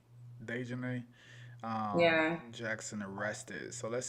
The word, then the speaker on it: Daejhanae: So how do you say her name? Dejanay? I think it's Daejhanae. Dejanay.